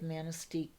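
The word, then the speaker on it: Manistique: by luddington okay yeah you've got to get the on the end of manisteek okay well if it's pronounced with the local annunciation up in the up it would be you were in manisteek eh yes yes that's right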